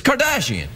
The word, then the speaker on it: Kardashian: It's Kardashian.